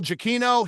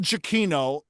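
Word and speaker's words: Giacchino: Uh, this particular uh artist, his name is Michael Jacino.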